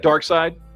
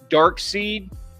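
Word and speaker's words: Darkseid: care how it's spelled nobody pronounces it dark seed it's dark side anyway phenomenal looking figure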